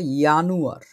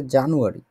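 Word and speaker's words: Januar: ঠিক আছে, জানুয়ার না, জানুয়ার হচ্ছে জানোয়ার জানোয়ার লাগে না শুনতে একটু, এটা ইয়ানুয়ার।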